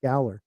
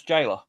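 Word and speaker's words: gaoler: But it's I always pronounce I knew it was like the jailer, but I thought he it's pronounced galler. No, it's jailer.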